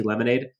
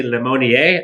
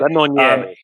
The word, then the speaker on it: Lemonnier: Overall, I think, a couple of the guys, Jake, I like to call him Jesse Lemonade, but Jesse Lemonnier, I believe is how you pronounce it. Lemonnier.